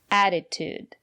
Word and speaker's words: attitude: here's another word attitude the first letter T is pronounced as a fast D because the syllable after the letter T is not stressed add it attitude and the second letter T is pronounced as attitude it's important to have